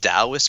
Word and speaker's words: Taoist: the first of all congratulations on pronouncing the word Taoist correct so many and I just so many interviewers referring to my own book and I was like Taoists and somebody's like Dallas I was like well